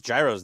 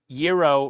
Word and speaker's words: gyro: hero yeah yeah yeah Euro rhymes with hero I know I have